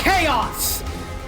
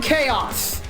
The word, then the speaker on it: Chaos: It's Chaos! Final Fantasy, eat your heart out. We found Chaos. Or Chaos, as some people mispronounce it, much to my chagrin.